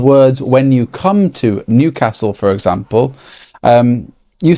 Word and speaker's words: Newcastle: Anyway, it's it's it's almost pronounced with a Y after the N. Newcastle. Newcastle.